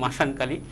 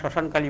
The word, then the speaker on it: শ্মশানকালী: সত্যি কথা, মাসানকালী বলতে কোনো শব্দ নেই। এরা গ্রামে গঞ্জে আসলে আমরা শ্মশানকালী বলে থাকি, শ্মশানকালী বলে থাকি। সেই ক্ষেত্রে তাদের উচ্চারণের ভুলের কারণে সেটা শ্মশানের জায়গায় মাসান হয়ে থাকে।